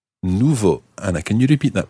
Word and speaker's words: nouveau: rule let's take to begin with the adjective nouveau Nouveau Anna can you repeat that please novel new